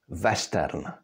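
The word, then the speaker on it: western: the German language and so in German W is pronounced the and the Czech language adopted this pronunciation from there so even if we have lone words from English like for example this one you would still pronounce it in check vestern or Ki next letter is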